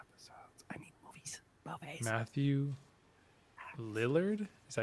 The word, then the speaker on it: Lillard: Matthew Lillard, is that how you say his name? Matthew Lillard is yes.